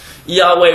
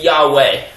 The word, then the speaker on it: Yahweh: Certainly not Jehovah, or Yahweh, or however you want to pronounce it. Yahweh would be the proper pronunciation, because to say Jehovah or Yehovah it's just different dialects for the same word.